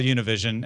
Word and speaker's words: Univision: Univision, which I am told it's like I should just call Univision and not get put a Spanish pronunciation on it, doesn't just run the top Spanish language channel in the United States.